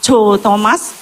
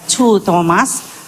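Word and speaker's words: Choo Thomas: Kalau saudara pernah baca bukunya Cho Thomas, Ibu Cho Thomas, Chu Thomas, CHOO, Chu bacanya ya, Chu Thomas, orang Korea.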